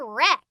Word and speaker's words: wreck: okay last one work nope the w is silent we say wreck castle castle castle castle